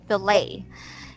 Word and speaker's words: fillet: All right, so plate, it's silent T, fillet.